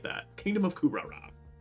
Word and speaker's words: Kuhrara: to map locations income Rock the kingdom of kurara that's how you say it I like that Kingdom of kurara say that bad boy all right good stuff